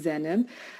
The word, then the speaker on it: Zainab: And yes, you pronounced my name right. It's Zainab.